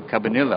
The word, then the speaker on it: Cabanilla: Cabanilla, I think, is the way we pronounce it, although I think there's a double L.